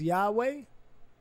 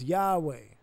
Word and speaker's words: Yahweh: When you see Lord, it is a translation of Yahweh, probably pronounced Yahweh. YHWH probably pronounced Yahweh, which means something like I am or I will be.